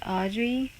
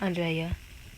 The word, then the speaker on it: Audrey: Okay guys, so I am ending this video, and I just realized that I am pronouncing her name wrong. So it's Audrey. I hope I'm saying it right. It's Audrey. Audrey, not Andrea.